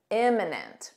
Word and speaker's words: imminent: they're probably not emminent imminent with an I notice this pronunciation IM imminent repeat after me imminent